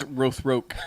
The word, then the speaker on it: Rothrock: It's Rothroke. Yeah. Okay. Rhymes with Baroque.